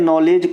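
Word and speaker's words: knowledge: ध्यान रखना है भाई जैसे नॉलेज क नॉलेज को नॉलेज कैसे पढ़ते हो तो आपके मन में है ना कि के साइलेंट है उसी प्रकार से यहां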